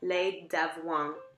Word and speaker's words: lait d'avoine: This is oat milk, and that's pronounced lait d'avoine. It's confusing because if in French, if you have de preceding a word that starts with a vowel, then you join them together.